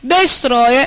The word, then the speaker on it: destroyer: Destroyer, esse O, ele é aberto ou fechado? Porque se fosse fechado, seria como? Destroyer. A palavra é destroyer. Eu tenho primeiro o mais alto não, mais longo, que é o O, e depois o mais baixo, é um movimento decrescente.